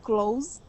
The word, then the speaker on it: close: up because I um close when it's a verb you pronounce like a z sound close yes close the door